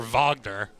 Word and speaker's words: Wagner: wagner there's the composer vogner who spelled it the same way but pronounced it differently so they came up